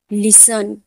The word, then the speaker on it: listen: किसी भी शब्द में TEN और TCH में टी साइलेंट होता है। जैसे लिसन, LISTEN, लिसन, लिसन में TEN है तो टी साइलेंट है तो इसे हम क्या पढ़ेंगे?